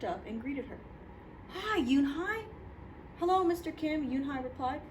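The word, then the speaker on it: Unhei: It's pronounced Yoonhai. And it means grace, Mr. Kim added. Yoonhai, Joey said slowly and this time perfectly.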